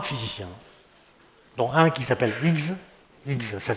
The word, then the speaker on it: Higgs: Et puis, il y a eu trois physiciens, dont un qui s'appelle Higgs. Higgs, ça s'écrit H-I-G, H-I-2-G-S.